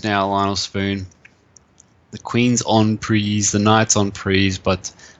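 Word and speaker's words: en prise: ears he told me I kept saying on pre on pre on pre and they kept telling me in banter blitz rhymes with cheese on fries never forget that down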